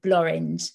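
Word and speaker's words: Blorenge: a mountain which is called bloring which is the answer to the question what rhymes with orange if anyone ever asks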